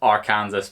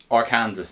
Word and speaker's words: Arkansas: good hmm I would hope not unless this Arkansas picks llama pig slow march managed to get